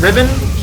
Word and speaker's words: Riven: It's Riven, which is spelled almost exactly the same as Revan, except with a R-I-V-E-N instead of R-E-V-E-N.